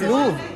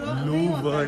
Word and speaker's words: Louvre: It's just Louvre. अरे Louvre ही है यार. Louvre नहीं है. This is the typical French pronunciation. Louvre. आर है तो end में बोलता रहे वो.